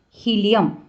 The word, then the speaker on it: hilum: Okay, chemistry में होता है ना हाइड्रोजन, हीलियम, नाइट्रोजन, तो हीलियम, लेकिन वहाँ यहाँ स्पेलिंग इज डिफरेंट.